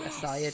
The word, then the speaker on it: Asia: Asia Jackson asah sorry I think she pronounces it asah Jackson instead of Asia Fair PL Fair [